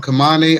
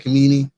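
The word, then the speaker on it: Khamenei: I think I pronounced his name wrong. Kamane. I said Kamini.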